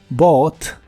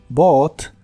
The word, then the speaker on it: bought: el pasado de inglés se puede pronunciar con la o o con la a profunda que son muy similares Bot B Bot B si le sigue